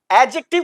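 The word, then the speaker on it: adjective: एडजेक्टिव को बोलते हैं एडजेक्टिव। जबकि जब किसी वोवेल के बाद और जी और जे लेटर से पहले डी लेटर आता है तो वो साइलेंट होता है।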